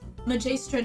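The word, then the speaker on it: Magaestra: right now but her her name name is majistra deapen yeah pronounced nicer how do you want me to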